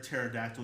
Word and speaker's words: pterodactyl: Because the P is silent.